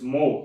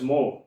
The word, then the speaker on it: mho: is, SI unit of conductance is, it is mho. It is exactly opposite to this one. It is exactly, the symbol, if you see, the symbol has been exactly opposite. It is pronounced as mho.